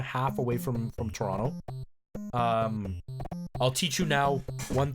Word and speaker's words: Toronto: to say it is Toronto you don't pronounce the second T you just pronounce it as an N so Toronto that is how it's